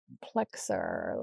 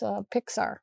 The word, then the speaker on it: Pixar: They're a Disney Plexar. Let's see, how do you say that? It's Pixar.